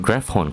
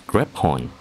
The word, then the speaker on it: graphorn: Apparently that is how you pronounce it, not graphorn, Crater. It's graphorn. So many enemies here.